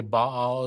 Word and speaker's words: Baal: I got to stop just so you know baale is the most mispronounced word in the Bible it's actually pronounced